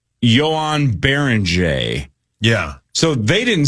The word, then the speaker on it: Joan: Joan. It's Johan, brother. It is spelled like Joan.